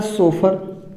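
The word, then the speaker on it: chauffeur: आप देखते हैं CHAUFFUR, इसको पढ़ा जाता है सोफर। साइकोलॉजी में आप देखते हैं पी से शुरुआत हो रहा है, निमोनिया की स्पेलिंग पी से शुरुआत हो रही है।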